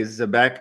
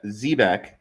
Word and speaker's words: Zebec: So now this is where I say Zbec and Zbec and Zabbec like tomato tomato to me because if you look up the ship, right? So, Ze, Zebeck, also spelled like they spell it, Zebac, and said phonetically here is Zbeck. But of course, the the COO says Zebec. So, we can say Zebec, we can say Zbec.